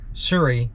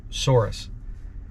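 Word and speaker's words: Souris: Prince Edward Island well sui was nice and yes I was saying it wrong before sui not sorus but after spending a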